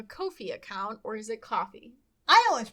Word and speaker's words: Ko-fi: So if you would like to support us doing that, we have opened up a Ko-fi account, or is it coffee? I always pronounced it coffee.